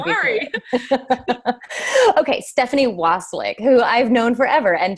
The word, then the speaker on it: Wasylyk: Stephanie Wasylyk. Wasylyk. Okay, I was so close. I was thinking it was like basilisk, only Wasylyk.